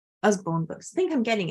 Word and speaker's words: Usborne: So the pronunciation is us as in buzz. Usborne Books.